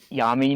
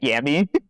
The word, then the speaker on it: Yami: It's Yami, not Yami.